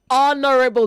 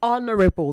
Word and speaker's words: honorable: Say honorable. The H in honor is silent. So say honorable.